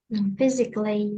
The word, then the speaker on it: physically: Physically, only three syllables.